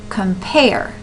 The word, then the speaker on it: compare: syllables so we have compare compare where does that where do the um stresses occur compare well it sounds to me like pair is a little more emphasizing the idea of come is kind